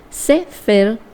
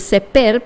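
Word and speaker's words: ספר: Libro se dice Sefer, o sea, se puede decir Seper, pero es Sefer, se pronuncia así.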